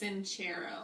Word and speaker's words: Sincero: It's Sincero.